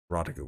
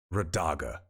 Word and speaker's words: Radaga: Rodiga was right. I'm sorry, I pronounced her name wrong. Radaga was right.